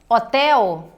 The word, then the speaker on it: hotel: Ao pronunciarmos, por exemplo, a palavra hotel, você não pronuncia o H, certo? Ele é um som silencioso.